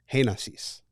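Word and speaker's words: Génesis: Heinassis. Heinassis? Heinassis. Heinassis? Is that Heinassis? Yeah. It's hay is the first syllable.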